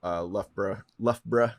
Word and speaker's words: Loughborough: So UCL, University of Loughborough, as you would say. Well done on your pronunciation there.